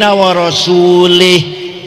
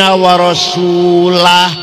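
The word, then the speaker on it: ورسوله: Wa anna allaha bari'um minal musyrikin wa rasulih. Allah tidak melindungi orang musyrik dan tidak melindungi Rasulullah. Salah. Yang benar bacanya wa anna allaha bari'um minal musyrikin wa rasulah.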